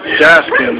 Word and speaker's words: Gaskin's: Gaskin.